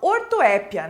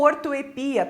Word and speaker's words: ortoépia: ouviu falar deles então ortoépia né ou ortoepia também pode ser aceita esta pronúncia do que se trata